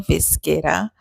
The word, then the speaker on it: Vizguerra: I got the correct pronunciation now, Vizguerra.